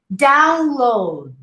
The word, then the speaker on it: download: Download. Download. 2 syllables. And you don't hear the D.